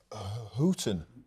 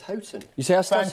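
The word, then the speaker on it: Houghton: Peter melson just picked me up on my pronunciation of hooton hton he sayon well this is happen spring exactly Chris I think it's hton you thank you thank you the only the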